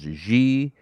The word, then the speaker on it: xi: We skipped nu, we skipped XI, which could be pronounced as G.